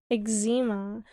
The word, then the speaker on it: eczema: I've ex X ex why are you guys saying egg are you making fun of my pronunciation or do you actually say that way ex eczema EA no one says to see eema that's weird it's too much extra work x x comes out as egg shouting X exzema ezema